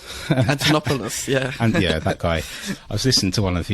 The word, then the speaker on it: Antonopoulos: um I always have a difficult way of pronouncing his name antonopotus Antonopoulos yeah and yeah that guy I was listening